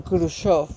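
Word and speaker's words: Khrushchev: y crusher o Cruz siempre he escuchado que lo llaman crusoft aunque se escribe crochef estos tres eran los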